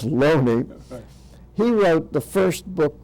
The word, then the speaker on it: Looney: fellow by the name of Loney his name is spelled l-o-o-n-e-y which would be Looney but it's pronounced lonely he wrote the first book claiming that it